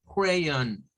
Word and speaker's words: crayon: sonaría con este símbolo así con este símbolo que es el símbolo que nos indica que esa o no es una oh oh oh así no es una o redonda es una o que apunta a una o en forma de a creyón no por eso ustedes